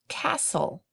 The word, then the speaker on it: castle: Castle has a silent T in the middle.